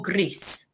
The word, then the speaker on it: gris: So remember, when you say rosa, you need to roll your R, rosa, and the same for gris.